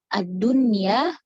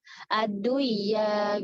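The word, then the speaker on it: الدنيا: Ad-dunya, bunyan, sinwan, tinwan. Makanya ada orang yang nggak tahu hukum izhar mutlak dibacanya gimana? Aduya gitu.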